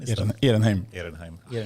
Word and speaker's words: Ehrenheim: Ehrenheim. It's the Swedish pronunciation, I guess. von Ehrenheim.